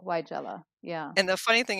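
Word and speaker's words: Weigela: capital wy- j-l so y Jala is how they're saying to pronounce it you're that that capital letter tells you that your emphasis should be on that syllable why Jella yeah and the funny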